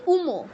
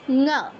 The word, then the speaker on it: ঙ: ঙ, ঙ, ক খ গ ঘ ঙ। উঙো বা উমো নয়, ঙ।